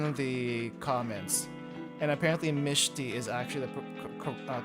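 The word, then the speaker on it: Mechty: I've been corrected in one of the comments and apparently Mishi is actually the correct pronunciation for mechi.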